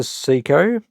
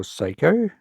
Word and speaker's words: Seiko: This is a Seiko, or Seiko. I'm going to keep saying Seiko because that's how I've always pronounced it.